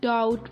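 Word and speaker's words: doubt: डोंट डाउट मी।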